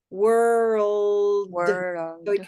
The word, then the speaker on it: world: that's how we are it's not like the regular l it well it can be world world just a minute